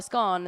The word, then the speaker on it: scone: I think I'd say scone though, because things that rhyme with that scone, gone, they've all got the 1-O.